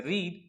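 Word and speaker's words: read: पढ़ने को हम कहते हैं रीड, और जिसका थर्ड और सेकंड फॉर्म रेड कहलाता है। स्पेलिंग तो सेम होगी।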